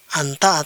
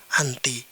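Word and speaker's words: أنت: Kemudian ini dibaca anta atau anti tergantung konteksnya di dalam kalimat.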